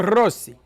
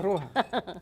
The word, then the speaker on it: Roja: Luna Rossi. No, it's not an S, it's a J. Rosa. This is Luna Blanca. How do you say red? Roja. That's what it would be then. Oh, Luna Roja.